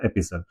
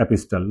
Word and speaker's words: epistle: तो इसकी प्रोनाउंसिएशन है वो है एपिसल, इट्स नॉट एपिस्टल, right.